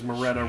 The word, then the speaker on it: Moretta: of 80s Moretta reference because Moretta rhymes with Beretta.